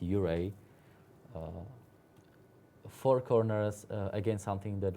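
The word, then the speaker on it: Ouray: We were even surprised that Uray pronounced Uray.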